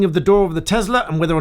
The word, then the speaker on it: Tesla: of a trivia here somebody pulled up in the comments and said it's Tesla not Tesla to which I responded well Elon musk's company and he pronounces it Tesla so I'll pronounce it